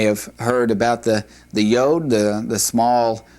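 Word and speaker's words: יוד: The 10th letter in the Hebrew alphabet is yod. This is a definite y sound. It is the smallest of the the Hebrew alphabet. And you may have heard about the the yode, the the small letter.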